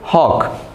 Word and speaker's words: hawk: W है नहीं ना, हॉक, हॉक नहीं बोलते, क्या बोलते हैं इसको, हॉक, H plus O, हॉक, के, W का साउंड आया नहीं, W साइलेंट है, तो जो चीज़ साइलेंट